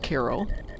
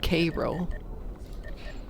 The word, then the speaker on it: Cairo: And then again, I'm from Illinois, where the name of the place, which in Egypt is pronounced Cairo, is pronounced Cairo. If we want to get really fancy, Cairo.